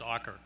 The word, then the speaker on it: Ocker: the Ocker family, and that is the way he pronounced his last name is Ocker.